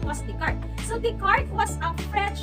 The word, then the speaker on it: Descartes: Sa ibang tao po, ang sinasabi po nilang pronunciation was Descartes, but the correct pronunciation was Descartes.